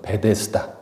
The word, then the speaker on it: 베데스다: 주시는 치유에 관한 말씀입니다 우리 성격은 베드 자다 그렇게 돼 있죠 우리가 익숙한 발음으로는 베데스다 오늘 제가 베데스다로 연못을